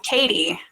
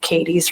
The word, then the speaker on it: Kaddi: Uh I couldn't think of a planet card that fit for Kelly, so I went with Kaddi, a planet that starts with the letter K and it sounds like Kaddi, Kaddi, Kelly, along the same lines.